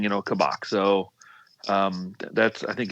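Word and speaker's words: Kabak: excited about this how are you feeling about kabock it's such a loaded question first of all you're both getting the pronunciation correct um i watched uh klopp's most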